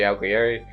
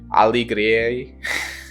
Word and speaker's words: Alighieri: I just wanted to show examples of Petrarch and Dante Alighieri. I keep pronouncing his last name wrong. Alighieri.